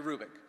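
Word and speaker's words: Hrubec: for you h-r-u-b-e-c Terry krubick the H is not pronounced Terry Rubik she did studies of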